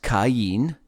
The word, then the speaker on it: Cain: cayenne you know again king james version says kane and it's strong's concordance number 7014 uh it's pronounced cain and that as it